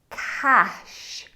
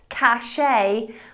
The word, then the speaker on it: cache: The first of 10 words that even natives regularly mispronounce is the word cash. Cash, not cachet, which even I am guilty of sometimes saying, but cash, like cold, hard cash.